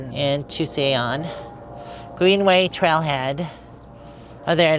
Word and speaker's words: Tusayan: And Tusayan. Greenway Trailhead. Oh, there it is. That's how it's spelled. A lot of people think I'm saying Tucson, but it's Tusayan.